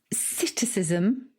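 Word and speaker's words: psittacism: Okay, so the first one is citicism. What? Citicism, but it's got a I've heard silent. that before. It's got a silent P. Oh, the P is silent, as in swimming pool.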